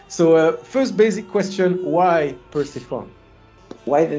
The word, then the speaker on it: Persefone: Here we say like in a Spanish way, like Persefone. But everywhere is like Persephone, and of course in French it's Persefone. Persephone.